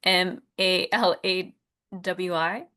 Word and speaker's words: Malawi: Um, Chin said, "I am from um I don't know how to pronounce it. It's m a l a w i um Malawi."